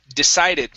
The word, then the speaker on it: decided: uh this word here decided make sure to pronounce the ed ending here teddy decided to